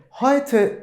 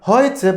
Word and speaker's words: Heute: Şimdi ben bugün günlerden Perşembe dediğimde Heute ist Donnerstag demem gerekiyor. Heute bakın EU nasıl ifade ediliyordu? Nasıl telaffuz ediliyordu? Ay şeklinde. Dolayısıyla bugün günlerden Perşembe dediğimde Heute ist Donnerstag demem gerekiyor.